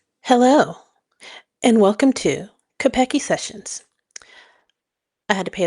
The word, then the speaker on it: Keipeki: It is called Kapeke. Or and in Swahili, it is pronounced Kapeke.